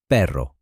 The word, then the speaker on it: perro: For example, the letter R. In Spanish, the R is lighter and more rolled, like perro, which in English means dog, compared to pero, which in English means but. A tiny sound difference changes the entire meaning.